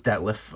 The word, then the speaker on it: Detlef: I think I always messed up his name wrong. No, it's Detlef. All right.